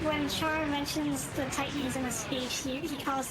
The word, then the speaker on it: Titans: But they pronounce Titans Tetons, so not everything is necessarily spot on. The English dub for Zeta Gundam actually fixes that. Oh yeah. Actually pronounces it Titans. But if you're watching in Japanese, they still say Tetons.